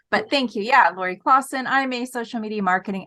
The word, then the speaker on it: Klassen: My last name, Klassen. Yeah, Klassen, right? It always messes me up because when I say Klassen, I think there should be a U in there.